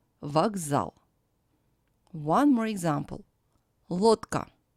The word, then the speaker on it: Лодка: Лодка. The voiced D stands before a voiceless K. So when pronouncing this word, D becomes the voiceless T.